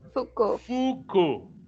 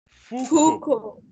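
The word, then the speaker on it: Foucault: pronuncia ou certo e você nunca pronuncia as últimas letras nunca pronuncia as últimas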